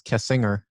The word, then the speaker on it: Kessinger: Yeah, it's Kessinger. Yeah. Kessinger. Oh, and I say Kessinger.